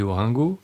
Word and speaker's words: Orengo: Bonsoir Frédéric, ça se prononce Orango ou Oringo, ça dépend en fait. Dans le sud on dit Oringo, Ah oui. et dans le nord on dit Orango. Donc, on peut dire les deux.